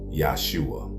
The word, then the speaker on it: Jesus: Now before you get upset, I said what I said, because the name Jesus is incorrect. If you didn't know, the proper pronunciation is Yahshua.